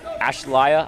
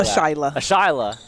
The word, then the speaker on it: Ashila: So Jackson, is it Ashlaya? I'm saying it wrong again. I know Ashila. Ashila Jackson, knocking down both. Ashila Jackson, 2-2. And I only have that pronunciation because I went to her before the game and she sounded it out for me.